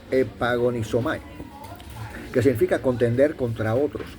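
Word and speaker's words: ἐπαγωνίζομαι: Entonces dice aquí que la palabra contendáis o de contender de pelear en el hebreo en el griego se pronuncia epagonisomay que significa contender contra otros.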